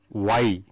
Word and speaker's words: wye: One is called the star or Y. This Y means the shape of the letter Y, and because the circuit is in that shape, it is called Y and it is spelt as WYE.